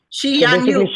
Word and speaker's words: Shi Yan You: It's called Yan You. Shi Yan You. Okay. Yeah, she is Buddhist. Yan is 34th generation, and You means the perfect one.